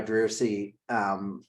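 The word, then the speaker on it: Driussi: How do you pronounce Drusi. this? Yes. Yes. Drusi.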